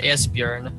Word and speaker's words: Esbjörn: you and say it's pronounced Esbjörn.